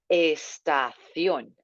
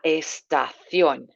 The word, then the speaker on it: estación: La estación. Nice this sound accent on that O. La estación.